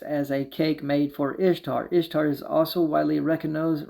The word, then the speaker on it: Ishtar: Bible in Jeremiah 7:18 Ishtar which is pronounced Easter and was a was